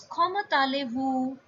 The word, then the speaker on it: comment allez-vous: But now, as I told you before, this word comment is ending with a consonant and it is followed by a word ale which is starting with a vowel. So this word T will be pronounced. So it becomes tale. And last word is vu. So it's koma tale vu.